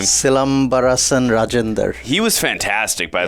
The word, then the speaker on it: Silambarasan: Again, the main star of this too, how do you pronounce his name? Silambarasan Rajendar.